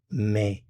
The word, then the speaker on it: mets: Je mets, mets. Notice the consonants here are not pronounced. Je mets.